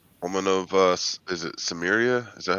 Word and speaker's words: Samaria: Woman of uh is it Samria? Is that how you pronounce it? Yeah. Mhm. Samaria.